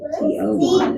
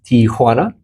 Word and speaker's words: Tijuana: I always say T-O-1. It's not T-O-1. Correct. Tijuana.